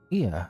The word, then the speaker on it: Ea: When the vibration of vocal folds was still required to convey our thoughts and intention, Ia, I believe, was the pronunciation used when referring to our people.